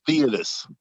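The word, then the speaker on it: Theudas: you can you tell us what Joseph it's pronounced theodus theodus so theodus is also mentioned in Acts am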